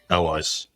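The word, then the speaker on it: Allies: Her name is L.eyes. Spelled A-L-L-I-E-S, L.eyes.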